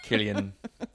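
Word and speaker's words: Cillian: And then realizing later, "Oh my god, the whole podcast we talked we said his name was Sillian Murphy."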